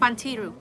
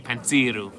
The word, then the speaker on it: Pantiru: Pantiru. Look at the accent on the T. Pantiru. Please, thank you.